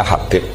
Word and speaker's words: Habib: Itu di harakatnya kitab itu ada yang nulis khubab. Yang benar Oh, nggih. Yang benar itu bacanya Habib.